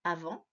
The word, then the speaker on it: avant: Avant s'écrit A-V-A-N-T. J'ai souligné le T qui était la lettre muette, ainsi que le en qui s'écrit A-N.